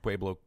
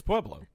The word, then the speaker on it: Pueblo: Pueblo, Colorado. Okay, I just wanted to hear you say it again. Why? Because you're mispronouncing it. It's Pueblo. It's Pueblo.